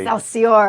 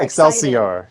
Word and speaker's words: Excelsior: Am I pronouncing it? That was actually pretty good. I did? Yes. Okay, she said it correctly. Excelsior. Excelsior.